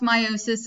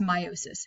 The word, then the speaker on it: meiosis: cell division is called meiosis okay so it's pronounced meiosis I often say meiosis just because when I